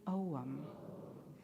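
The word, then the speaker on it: ogham: today is spelled o g h m and pronounced ow can you say that with me om each letter of the omam alphabet is connected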